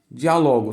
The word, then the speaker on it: diálogo: palavra que é a palavra que é diálogo diálogo Se você pronuncia terminado em Olha sábio terminado em Ok